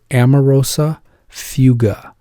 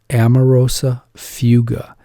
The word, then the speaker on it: amaurosis fugax: word for you gotta know this word it's pronounced amarosa fuga Amoroso fuga so that is a sign that the patient